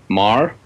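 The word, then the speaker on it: Meagher: of uh Robert Emmett Marr spelled m-e-a-g-h-e-r um so I couldn't pronounce it until I met him but Bob Mar okay he's got several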